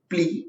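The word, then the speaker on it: plea: ठीक है, next word we have got इज प्ली। इसके प्रोनाउंसिएशन में ध्यान दीजिएगा, PLE है, इसको बोलते हैं प्ली।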